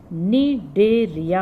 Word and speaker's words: Cnidaria: लेकिन अब आपको पता है इनका आधुनिक नाम क्या है, निडेरिया। अब इनको कहते हैं, सी साइलेंट है यहाँ पर, निडेरिया।